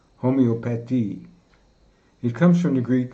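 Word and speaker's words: Homöopathie: First of all, the central feature of this course will be the subject of homeopathy, which in German is pronounced Homoeopathy.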